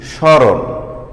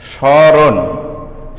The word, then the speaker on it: স্মরণ: এখানে মফলার উচ্চারণ করলে হতো সমরণ। আসলে কি এটা উচ্চারণ সমরণ? অবশ্যই নয়, এর উচ্চারণ হবে স্মরণ। তাহলে আমার মফলা গেল কোথায়? আমার নিয়মে বলা হয়েছে যে আদ্য মফলা। আদ্য মানে শব্দের প্রথমে যদি মফলা যুক্ত থাকে সে মফলার উচ্চারণ হবে না। দেখো, আরেকটি উদাহরণ আমি লিখছি, স্মৃতি।